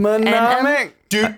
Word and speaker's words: mnemonic: Mnemonic.